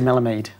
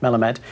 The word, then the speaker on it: Jesse Melamed: champion I always sorry Ino Ino uh Jesse mamade i' say his name I'm sorry Jesse melamed he's very very quick uh and that's because